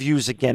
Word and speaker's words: USAgain: or were you one of the founders of use again and for our listeners out there again i'm